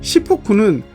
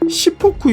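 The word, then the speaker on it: しっぽく: 시포쿠는 탁복이라는 말의 일본식 발음인데 탁복이란 명나라 때 중국 한족들이 사용한 입식 사각형 식탁의 이름이었습니다.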